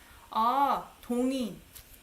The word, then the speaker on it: 동의: So if it's not pronounced as 의 when it's possessive, would it be pronounced as 이? Just 이 again. 동의.